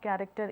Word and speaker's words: character: here the exact the spelling of character is c h a r a c t e r but the spelling you have written initially is that is CH but the pronunciation you are talking is different so based on that